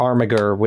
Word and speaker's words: armiger: There's a word armiger or armiger, if using the Latin pronunciation, which means arm bearer, in terms of weapons.